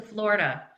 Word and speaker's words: Florida: And I would say, "I went to Floridale." And they would say, "Oh, honey, you went to Florida." And I would say, "Nope, definitely didn't. Went to Floridale." And they would say, "Oh, honey, it's pronounced Florida."